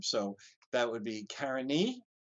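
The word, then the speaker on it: Carinae: is Karina and but we use the Latin genitive form so that would be Karen e Carini you'll see different pronunciations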